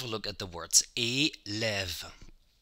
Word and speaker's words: élève: With the lève, you have the V at the end of the syllable when you pronounce it. Élève. lève. O, end of the syllable, E accent aigu, lève, end of the syllable, V, lève.